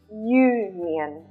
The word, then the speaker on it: union: is pronounced like this union you can see it starts with a consonant sound so in this case